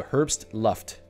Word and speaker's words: Herbstluft: It took me a while to notice you talk about a Herbstluft. In German, the pronunciation of BST brings you to a full stop. So Herbstluft.